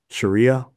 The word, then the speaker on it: Sharia: Sharia. Did I pronounce it right?